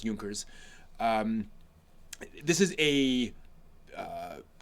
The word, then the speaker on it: Junkers: to directing junkers come here and yes it's pronounced yunkers um this is a uh sort of Coming